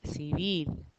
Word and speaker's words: civil: I'm not saying civil, I'm saying civil. Notice I'm saying vil, that's where I'm putting the stress.